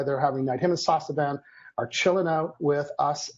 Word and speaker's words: Sasavan: Yeah, I think it's Sasavan. You can say Van. He showed me how to pronounce it.